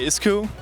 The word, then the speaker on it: Isku: uh we say ISU so yeah that's that's how we pronounce it now we reamped it so we call it iscu plus it is now swarm compatible swarm is